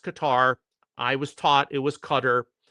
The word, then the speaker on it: Qatar: They start shooting at all of these other countries, Bahrain, Qatar, and by the way, it is pronounced Qatar.